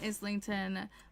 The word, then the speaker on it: Islington: Uh, Molly dot said, "I pronounce the s in islington, but maybe it's related to isle."